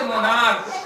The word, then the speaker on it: monarch: जैसे मोनार्क, सम्राट, मोनार्क में क उच्चारण हो रहा है, MONARCH, मोनार्क में क उच्चारण हो रहा है, तो यहाँ मोनार्क्स हो जाएगा, ठीक है।